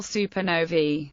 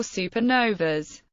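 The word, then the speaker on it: supernovae: Fritz zwiki in 1931 it is pronounced supern noi with the plural supern noi supern noi or supernovas during maximum brightness the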